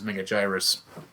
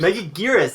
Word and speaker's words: Megaguirus: Megagyrus. Oh, you gave me... What? Don't ever pronounce that again. Megagyrus? Megagyrus? How do you say it? Megaguirus. It's like Anguirus.